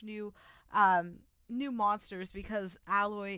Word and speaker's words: Aloy: um new monsters because alloy is moving um or aloy i think is how you pronounce it is moving out west